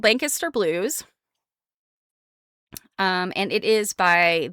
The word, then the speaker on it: Lancaster: With Jill and some other folks that are from Massachusetts, they pronounce the one in Pennsylvania wrong. If you, when you're talking about the Amish area of Pennsylvania in southeast area of the state, it's Lancaster.